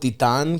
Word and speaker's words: Titan: market yeah Titan Tian we we call it Tian cuz that's the Greek pronunciation and then I said it to him and he's like do you mean Titan I was like oh